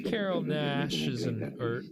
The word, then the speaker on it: Naish: Carrol Naish is or I don't know if it's Nash or it's spelled Naish.